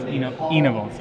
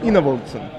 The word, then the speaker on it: Enevoldsen: So we've been mispronouncing his name. Twitter helped out. So Thomas Enevoldsen. Enevoldsen. I think you have to pronounce it low.